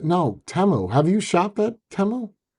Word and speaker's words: Temu: Timu. No, Temu.